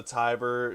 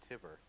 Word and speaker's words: Timber: portal guys under green wait no we're pronouncing that wrong it's timber oh